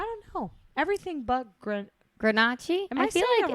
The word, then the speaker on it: Grenache: you know and it's the Grenache Ygritte with the stress on the first vowel which Gail told me